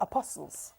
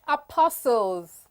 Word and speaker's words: apostle: Um, oh, apostles. Apostles. We call it apostle. You see that T the Nigerian? It will sound apostle. What? What you call? What is it called? T is silent.